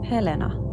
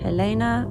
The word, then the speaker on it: Helena: happens a lot and every time they say correctly Helena when in America everyone says it Helena or Helena does this